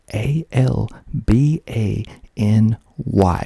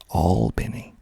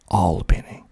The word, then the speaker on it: Albany: georgia it is spelled a l b a n y which is the exact same spelling of another town in new york which is pronounced completely different here in georgia we pronounce it albini albini not albany albany